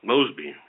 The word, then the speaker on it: Mosby: I mean, this Miss Moby, is that how you pronounce her name? Mosby? Mosby.